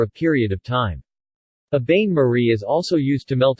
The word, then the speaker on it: bain-marie: A bain-marie, pronounced Bain-marie, also known as a water bath or double